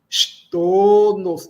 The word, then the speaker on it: ŝtono: Filo, chevalo, arbo, floro, x, x, olha o x chapéu, x, é, a gente chia. Xtono, não nasalizamos, xtono, domo, juro, ventego, virto, doloro, tago.